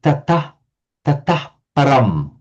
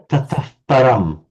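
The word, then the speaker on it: tataḥ param: In classical Sanskrit, it would be pronounced tatah param. But in Vedic, this would take on a bit of the color of the p. So it would be pronounced like tataf, almost like a f sound. Tataf param. But nobody would blame you just to pronounce it as an ordinary H, tatah param.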